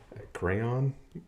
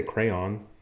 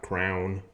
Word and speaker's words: crayon: to school Mountain View but I say crayon not Crown people who say Crown I'm sorry you you need to be slapped it's cray on look at the letters Crown the colored wax in the box is not the same thing as the thing